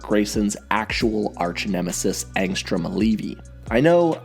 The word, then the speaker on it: Levy: actual arch nemesis angstrom leevy I know I know it's levy my old videos said Levy and I'm sure I'm